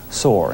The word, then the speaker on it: Shore: They say they actually pronounced the last name Soar, and we just want to correct that. Wayne Rideout, the suspect, is in Cumberland County Prison tonight without bail.